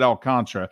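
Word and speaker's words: Alcántara: MLB announcers Marlins announcers everybody pronounces it as El Contra even though it does not spell that way I'm going without Contra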